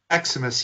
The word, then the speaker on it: Eximus: So, and is that the right way to pronounce it? Is it Eximus? Eximus, yes.